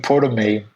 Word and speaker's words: Prometei: Russian-based spelling, and even the name Prometei was found inside the malware. And this is, of course, the Russian pronunciation for the Prometheus from Greek mythology.